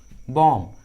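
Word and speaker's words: bomb: जब भी किसी इंग्लिश वर्ड्स के लास्ट में बी रहता है और उस लास्ट वाले बी के जस्ट पहले एम रहता है तो बी का उच्चारण नहीं करते, बी साइलेंट होता है।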